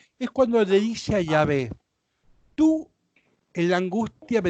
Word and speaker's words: Yahvé: O sea que siempre que leas esas 4 consonantes, vos tenés que pronunciar Yahvé. ¿Sí? Yahvé. Bien. No con T final. Yahvé.